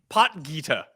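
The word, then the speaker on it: Potgieter: How do you pronounce it? Pot Gita.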